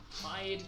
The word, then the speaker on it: Hyde: place called tide Tower it's spelled h-y-d-e hide Tower okay so there's a